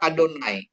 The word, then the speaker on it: Adonai: Jadi walaupun tidak ada holnya itu sama sama artinya sama bacanya gitu. Bacanya tetap Adonai.